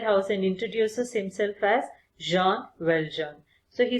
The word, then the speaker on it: Jean Valjean: Children, the pronunciation of this name is Jean Valjean because it's a French name.